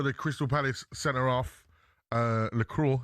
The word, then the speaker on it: Lacroix: Lacroix is how you say it, I think it's French lad.